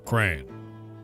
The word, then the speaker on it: crayon: Single syllable, crayon.